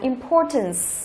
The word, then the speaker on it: importance: Tiếp theo phương án B chúng ta đọc là importance, importance, trọng âm thứ hai.